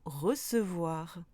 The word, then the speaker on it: recevoir: Idem avec ce, on prononce le E toujours avec ce, comme dans apercevoir ou recevoir.